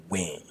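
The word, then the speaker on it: ဝင်: But in Burmese, this does not happen. It should not happen. It ends with a soft nasal sound, so don't pronounce it exactly the way you would pronounce the English verb win. Pronounce it as win.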